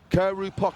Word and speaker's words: Keropok: It's Keropok. Keropok, he's saying. No, it's not. It's Keropok. That's what he's saying. Keropok. Keropok. Keropok, is it? Keropok is K-E-R-U. This is K-E-R-O, right?